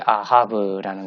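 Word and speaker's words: אהב: 제일 처음에 나오는 알레프는 이응 음가를 가지고 있죠. 그 밑에 카메츠가 붙어 있죠. 발음 기호가. 그래서 카메츠는 아 발음을 가지고 있습니다. 그래서 아고 해는 히읗 발음을 낸다고 했죠. 그리고 밑에 발음 기호는 무엇입니까? 파타죠. 파타. 아 발음을 가지고 있는 단모음. 짧게 발음하는 아죠. 그래서 아하 이렇게 하고 그 다음에 맨 끝에는 발음 기호가 없는 비읍 음가를 가지고 있는 베트입니다. 그래서 아하브 이렇게 발음을 합니다.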